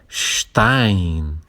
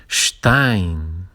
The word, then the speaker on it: Stein: E Stein, lembrar essa pronúncia, o S na frente do T, Stein tem esse som chiado e EI se lê Ein em alemão.